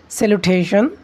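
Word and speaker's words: salutation: একটু আগে ভুল উচ্চারণ করেছি হয়তোবা। সেলুটেশন।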